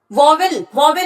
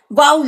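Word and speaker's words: vowel: यहाँ पे देख रहे हैं आप, वाउल है ये, वॉवेल अपन लोग बेसिकली वॉवेल बोलते हैं, लेकिन उसका सही प्रोनाउंसिएशन वाउल है।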